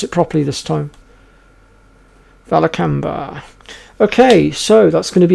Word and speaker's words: Vilcabamba: are pretty much done with the city of valac camber yay I managed to pronounce it properly this time valber okay so that's going to be it for